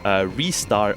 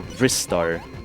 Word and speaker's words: Ristar: In the Japanese version, it says Risuta. So from here on out, I would assume that there are only 2 possible pronunciations, which is Ristar or Ristar.